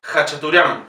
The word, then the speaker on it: Khachaturian: Fíjense, siempre que vean una K y una H, lo pronunciamos como J. Khachaturian.